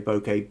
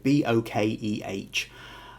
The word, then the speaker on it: bokeh: Now, first off, I will say bokeh, B-O-K-E-H. There are probably 100 subtle different ways of pronouncing it. I say bokeh, but if you've got a different way of saying it, that's fine.